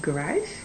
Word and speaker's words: garage: low garage look garage so we say garage blue garage this is about the exact same way so you have no